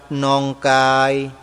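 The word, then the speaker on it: Nonggai: dcom วัด หนองกาย dcom ถ้า อ่าน ออก เสียง เป็น ภาษา อังกฤษ จะ ไม่ มี เสียง เอก โรี จวา จะ ออก เสียง ว่า วัด นอง กาย dcom n o n g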